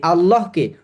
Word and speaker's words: আল্লাহ: আপনি আল্লাহকে সঠিকভাবে সঠিকভাবে পড়ার সঠিকভাবে উচ্চারণ করার নিয়ম শিখছেন এবং সেটা প্রাকটিস করবেন তাতে কিচ্ছু আসে যায় না কেউ হাসলে।